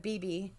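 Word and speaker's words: Beebe: an episode about about our blackbird incident from bibi um and they actually which is crazy because they actually pronounce it uh bieb arkansas instead of bb but uh but anyway so basically they told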